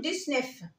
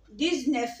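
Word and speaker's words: dix-neuf: الشرطه بتاعتي ورقم ت المفروض ان انا اقول ديس نف يا مس طب ما هو الاكس هنا مش بعديها لتيل ومع ذلك بينطقها قولوا ايه ديزن ديز نف زي زويت ده او حاله خاصه عندهم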